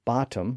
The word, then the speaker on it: bottom: pronunciation in Middle English we can find the word bottom spelled b o d d oom and we can also